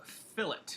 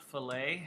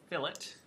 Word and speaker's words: fillet: the command is called fill it it's not French it's not filet it's f-i-l-l-e-t ex pronounced fill it and we hit enter